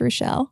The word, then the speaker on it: Rashel: She still doesn't know how to pronounce my name properly. So Rochelle, I'll answer to Rochelle, Rachel, but yes, my name's Rochelle.